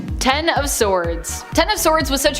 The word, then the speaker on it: X of Swords: X of Swords, pronounced Ten of Swords in relation to the tarot card, is a mutant event